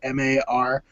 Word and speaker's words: Mar: I just write it M-A-R or M-A-R-R. Oh, do you really? And, yeah, because no one's ever going to get it. Right. And so, you know, it's just pronounced Mar, and when we were